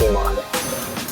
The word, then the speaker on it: Iman: I never know how to pronounce it. Is it Iman? It's Iman.